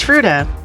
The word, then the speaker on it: Fruita: It was Fruita.